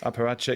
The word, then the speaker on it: apparatchik: Parachik? Or Apparatchik. Apparatchik.